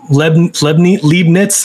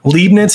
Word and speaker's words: Leibniz: whoever made this i think it was um lebanese leibniz that's how you say it leibniz he's one of the fathers of calculus he